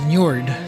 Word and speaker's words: Njord: So, the pronunciation is Njord, so I think we should go with Njord,